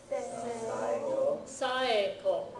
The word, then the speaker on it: Saeko: This one is saeko. Notice that you pronounce these separately, even though they sound like they could run together. Saeko.